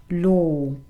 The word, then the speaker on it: law: whatever in law law bear in mind this is just one vowel sound and it's a long o sound some people think that because you write two letters here you have to make two sounds no um i run